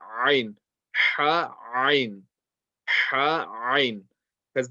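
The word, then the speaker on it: ع: But if you have difficulty reading this letter, practice Ha first. Get that Ha really strong. And once the Ha is really strong, then inshallah practice the letter Ain.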